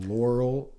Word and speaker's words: Laurel: how to say it it's like Carl with an L Laurel Laurel Laura oh that's what I've been saying Laurel Laura yeah Laurel Laurel yeah like Carl yep just don't call me